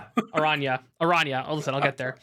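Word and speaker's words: Araña: Yeah, I'm going to put it I'm going to put it below um the Boros Ariana. I'm not going to say it right. Arana.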